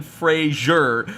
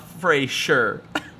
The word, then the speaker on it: Fraser: thinks that's a swear it's pronounced brendan fraser not fray sure oh my word no